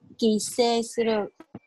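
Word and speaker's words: 帰省: Quy tỉnh đọc là gì? Kise suru.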